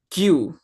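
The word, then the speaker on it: queue: Uh, uh, It's very it's very complicated when we see the writing, yeah, but actually the words, but actually the pronunciation is like Q, ya, ya, itu antrian kan?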